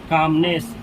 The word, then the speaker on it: calmness: इसमें एल का प्रोनाउंसिएशन नहीं किया जाता है, इसको पढ़ा जाता है कामनेस।